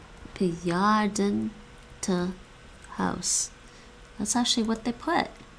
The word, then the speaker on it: bejaardentehuis: al beginnen in het bejaardentehuis. In het bejaardentehuis. I want to make sure I'm saying that right. Bejaardentehuis. That's actually what they put. Bejaardentehuis. Bejaardentehuis. Bejaardentehuis. They're barely pronouncing that end.